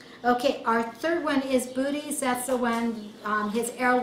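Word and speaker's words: Boötes: That's booties. I was thinking okay. Arrow. Oh. Booties. B-O-O-T-E-S. Okay? If you want to pronounce them different, be my guest.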